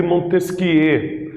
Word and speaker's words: Montesquieu: Esse carinha aqui que eu trago na imagem para vocês chama-se Charles de Montesquieu. Essa é a pronúncia, ele era francês, então é assim que se pronuncia o nome dele. E ele viveu entre 1753